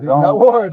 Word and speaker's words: Nutward: Nutward, like psych ward.